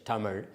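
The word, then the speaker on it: தமிழ்: Uh I I I'll spell it the way Tamil is actually pronounced Uh in Tamil. Otherwise, t a m i z h Tamil.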